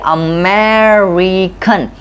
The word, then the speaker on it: American: When we speak American word, there are 4 syllables and second syllable is more stressed and stretching syllable, and the re syllable is a very weak syllable. And to balance these syllables, in the end we pronounce a UGH sound, which comes in a 4th syllable when we say American.